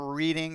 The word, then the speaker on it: Reading: here that's what I'd like to know it's pronounced reading by the way actually oh I the funny